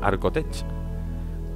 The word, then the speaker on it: Archotech: Gonzalo, ¿quién quería una pierna Arcotech? Venga, vamos a ver. Archotech. Arcotech es como se pronuncia, sí o sí.